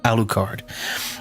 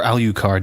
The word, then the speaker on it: Alucard: playing a uh it's it's pronounced alukard or Alucard depending on how you want to if you want